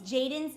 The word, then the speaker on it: JXDN: If you're a fan of Jaden Hostler, it's JXDN, pronounced Jaden.